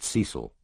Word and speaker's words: Cecil: Melanie Rose taught Bible school and had twin daughters by someone called Cecil, pronounced Cecil, who 3 months ago had taken a return ticket to Eleuthera and thus far had not used the second half.